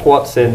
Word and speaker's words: Hoatzin: If I'm bothered, I'll put a Wikipedia link to a Whatsin. Whatsin. It's spelled Hotzin though.